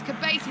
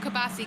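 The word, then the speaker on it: Qubaisi: think uh oh kabasi we said it wrong it's kabasi not kabassi kabasi I I think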